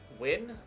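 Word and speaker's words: Nguyen: and Beck go uh win perhaps I'm not really to pronounce that I know Guan or as it as you would read it in guen uh is pronounced win the Vietnamese Center but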